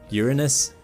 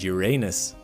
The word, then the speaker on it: Uranus: It even has two ways to pronounce it as no one has been able to definitively agree on the matter. Uranus and Uranus.